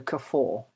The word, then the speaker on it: Kafoa: Pretend there's an R on the end, so Kafoa.